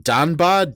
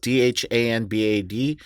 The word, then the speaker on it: Dhanbad: I'm going to mispronounce this place. In Danbad, Dhanbad, taking on former AEW wrestler Parker Bordeaux.